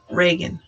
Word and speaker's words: Reagan: No, it is Reagan.